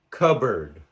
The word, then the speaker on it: cupboard: There are also words spelled with the letter P that are unvoiced. For example, pneumonia, pneumonia. Receipt, receipt. Raspberry, raspberry. Cupboard, cupboard. Psychology, psychology.